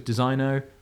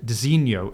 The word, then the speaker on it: designo: and I I had to look up the pronunciation of this. It's Dino. Dino. Dino. I always thought it was Designo or Digno, if you want to be really weird. Dinoho apparently is how you pronounce their kind of